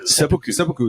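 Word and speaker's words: seppuku: and then um I've heard so many different pronunciations of that word. Yeah. I I don't know how you're actually supposed to say it. Sepoku is the one.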